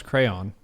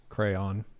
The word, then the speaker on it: crayon: how do you pronounce crayon two syllables crayon one syllable crayon crayon crown crown two syllables second one rhymes with dawn crayon crayon how are